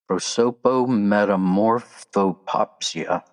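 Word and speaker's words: prosopometamorphopsia: Prosopetamorphopsia. Prosopetamorphopsia. I'll spell it out for you in case you have pen and paper and keeping score.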